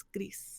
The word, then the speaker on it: Gris: Most recently one I streamed is called Gris, or in Spanish it's Gris.